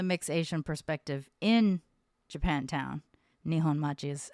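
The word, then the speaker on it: 日本町: But to be able to speak from the mixed Asian perspective in Japantown, Nihon Machi is how you say it in Japanese.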